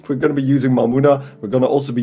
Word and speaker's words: Mamuna: my money but yeah it's supposed to be pronounced mamuna but i just like the fun i made